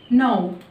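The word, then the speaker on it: gnaw: لو كلمة كمان بدأت بجي إن ما بنطقش الجي. زي كلمة نو.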